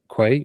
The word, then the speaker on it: Quay: uh currently we're using uh Quay or key depending how you want to pronounce it properly or not um to host our